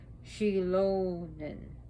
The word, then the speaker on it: Xilonen: And Xilonen, The X is a she. So it's pronounced different. It's not like a Z or a, it's she.